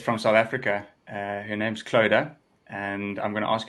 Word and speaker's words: Clodagh: My nickname for some people is Soda, because when I have to introduce myself, it's Clodagh like soda to get the pronunciations correct.